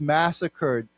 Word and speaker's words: massacre: together a massacre Massacre it's a little bit strange because it ends with an re but it's pronounced ER it's a massacre oh